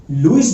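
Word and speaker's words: Lewis: बेटा इसकी exact pronunciation लुईस है, कोई लेविस बोलता है, लेविस नहीं बोल रहा, हमको बोलना है लुईस।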